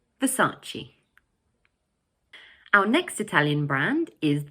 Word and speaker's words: Versace: But in English, we pronounce it Versace. Notice that the word has 3 syllables and the middle one is stressed. So we say Versace.